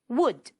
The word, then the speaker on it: would: Would. The L is silent.